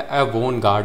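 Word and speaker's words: avant-garde: ये है अ वो गार्ड अ वो गार्ड यहां पे टी जो होता है वो साइलेंट होता है। अ वो गार्ड होता है इसका प्रोनाउंसिएशन।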